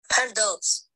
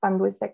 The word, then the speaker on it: pan dulce: And so the iPad pronounced it kind of odd, right? It was pronounced with, it pronounced the word with the American English phonology. And so I asked Valentina what she thought about the device's pronunciation. And she laughed and she told me that she had, quote, fixed the app's button for it to pronounce pan dulce correctly. Meaning with the Mexican Spanish phonology, which I can also play right now.